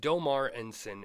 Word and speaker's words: Deaumar Ensign: Um, but Domar Enen is the correct pronunciation as Tony told me.